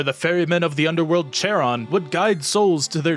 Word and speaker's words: Charon: at describes it as starting to make a k sound but not finishing it so it's more like an H but like an aggressive H I'm gonna try to